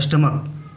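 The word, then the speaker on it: stomach: जैसे ये स्टमक, इसे बहुत सारे लोग स्टोमैच पढ़ते हैं लेकिन वो गलत है, इसे स्टमक पढ़ते हैं।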